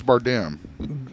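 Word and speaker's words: Bardem: is that right Bim I think I'm pretty sure it's bardam BRD what are you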